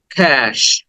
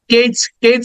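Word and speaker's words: cache: then next word is ক্যাশ এখানে আমরা কেচ বলে অনেকে হয়তো বলে থাকো কেচ না ক্যাশ ক দেন এ সাউন্ড এরপরে সউন্ড ক্যাশ ক্যাশ ক্যাশ then next word is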